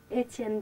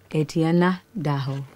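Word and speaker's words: Étienne: His name is how do you pronounce it? Etienne Daho. Etienne No. Etienne Daho. Etienne Daho.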